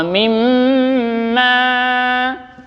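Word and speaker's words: مِمَّا: Wa mimma, di situ kita harus menahan dulu dan didengungkan. Karena apa? Itu ada mim tasydid, namanya gunnah.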